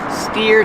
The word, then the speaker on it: steer: Steer to the right, steer to the left. Pronunciation, steer, like ear.